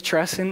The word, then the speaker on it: Tresson: sounds I said hey my name is tresen and it rhymes with salad dressing and usually that uh they'll remember that forever so guys my name is treson and it rhymes with